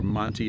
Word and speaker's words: Monte: So, this little village here is called Mont spelled it's or Monty if you want to pronounce it in the English.